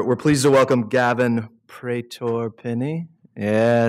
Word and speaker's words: Pretor-Pinney: um uh we're we're pleased to welcome Gavin pror peny yeah said it right um the founder of